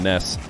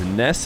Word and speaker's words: Nass: of these guys you hear me call them Ness and the reason why is because Ness himself said that that's how it's pronounced uh you know it's spelled n-a-s-s but